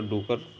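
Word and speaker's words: Drucker: Peter डूकर और ड्रेकर दोनों pronunciation करते हैं लोग।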